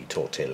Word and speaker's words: tortile: That could be pronounced tortile, but given that all this cobblers is Latin, it's going to be tortile, isn't it?